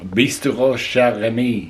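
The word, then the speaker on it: Bistrot Chez Rémy: Bistrot Chez Remy. There you go. That is what I wanted.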